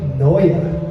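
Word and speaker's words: Neue: And by the way, you want to know how you pronounce the N-E-U-E? Yeah. It's actually Noya.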